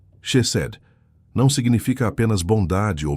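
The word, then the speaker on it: חסד: da sua honra é Chesed. Pronuncia comigo em voz baixa onde você estiver. Chesed. Com o som gutural que vem do fundo da alma. Chesed.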